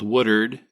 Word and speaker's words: Woodward: But then after college, I went out to the panhandle of Oklahoma, a town called Woodard in Oklahoma parlance, but Woodward to anybody else that can actually read.